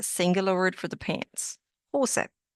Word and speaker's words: Hose: Hose. And it's not pronounced hose. Here again, this is where your pronunciation rules come in. Hose. That's how you want to say it.